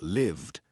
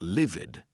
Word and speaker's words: lived: Answered, robbed, mugged, hummed, used, quizzed, lived. Not livid. That's another word, not livid. Lived.